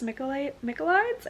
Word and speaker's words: Michaelides: It's called The Maidens, I think, by Alex Michaelides, I think is how you pronounce his last name, and he's the same author of The Silent Patient.